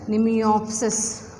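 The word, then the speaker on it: Mnemiopsis: Example, Nemiopsis. M is silent. Nemiopsis.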